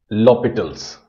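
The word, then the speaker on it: L'Hôpital: It's written like this and pronounced L'Hopital's.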